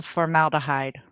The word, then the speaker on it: formaldehyde: FORMALDEHYDE.